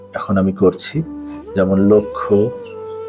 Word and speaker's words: লক্ষ্য: কোন শব্দের শুরুতে বা আদিতে যদি অ স্বাধীনভাবে থাকে অথবা ব্যঞ্জন ধ্বনির সঙ্গে যুক্ত অবস্থায় থাকে এবং পরবর্তী বর্ণ যদি ষি বা যুক্ত খ হয় তাহলে পূর্ববর্তী অ এর উচ্চারণ সংবৃত হবে অর্থাৎ ও এর মত হবে সম্মানিত সুধী যেই শব্দগুলো